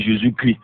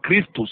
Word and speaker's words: Christ: Là il dit Jésus crie. Jésus ne crie pas. Non, il ne crie pas, c'est Jésus Christ. En grec c'est Christos, il faut bien prononcer Christ. Jésus n'est pas en train de crier.